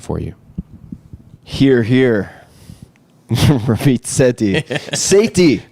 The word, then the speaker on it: Sethi: Here here Rammit Seti Sati how do you say your name correctly? Rammit Sati.